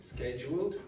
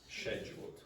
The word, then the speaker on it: scheduled: Now, you can pronounce this in two different ways. I pronounce it scheduled, but you can also hear scheduled.